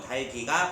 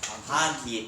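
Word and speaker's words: 닭이: 결합할 때 곁파 중 하나 여름으로 해야 되므로 달기가 발음한게 합류적이다. 그러나 실제 발음에서 달기로 발음하는 경우가 많다. 자 조심해야 돼. 달기가 합리적이래. 1 달기 합리적인데 얘를 뭘로 발음 안 돼요? 다기.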